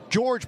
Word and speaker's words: Jorge: George Perez. It's spelled J O R G, but he says it's George Perez.